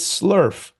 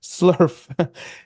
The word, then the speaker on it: SLERF: The first is Slurf. Yes, Slurf.